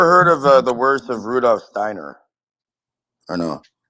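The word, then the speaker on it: Rudolf Steiner: for example Rosacrusian you have to say it like this Rudolph Steiner Steiner but regard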